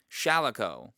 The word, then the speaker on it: Shalako: I'm still tempted to pronounce it wrong. Shalako, played by Sean Connery, a former U.S.